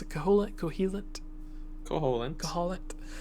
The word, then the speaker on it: Koholint: Koholint. Like lint. Yeah. Like, we did some laundry, I got lint.